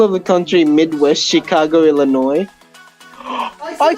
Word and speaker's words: Illinois: The S is silent.